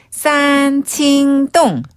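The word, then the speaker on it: 三清洞: 삼청동은 중국어로 산칭동.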